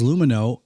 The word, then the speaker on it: Lumineux: That's Lumino, LUMINEUX. Again, LUMINEUX. Remember, it's spelled with an X, so you can X out the harm.